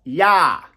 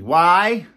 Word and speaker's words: YAH: Middle name is not a common middle name, but it's spelt and pronounced YAH. So middle name is Y. Say after me. Y-A-H. YAH.